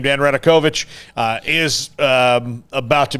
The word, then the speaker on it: Radakovich: way before we get to that uh dan radekovich is how you say his name dan radakovich uh is um about to be officially on